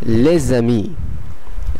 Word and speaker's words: les amis: প্রথমটাতে আমরা দেখতে পাচ্ছি les amis, les amis, les amis। আপনারা নিশ্চয়ই খেয়াল করলেন শেষের এস অথবা শেষের কনসোনেন্টটি সাইলেন্ট আছে এবং এখানে একটি সংযোগ স্থাপন হচ্ছে এস এবং আ এর মধ্যে।